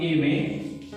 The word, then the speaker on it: aimer: This together become A may, and when you speak together A may, the sound will come as A may of this verb. So R is silent, you don't have to worry about it, just remember A may.